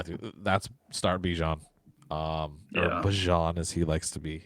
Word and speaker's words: Bijan: couple of guys, and they asked if that's how you pronounce it, is Bijan. He said it's actually Bajan, and he wants people to call him that, so it's Bajan.